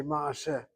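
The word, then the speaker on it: מעשה: We don't say ma'aseh, we say ma'aseh. Ma'aseh. So you hit the last syllable, but that patach is open because of secondary opening.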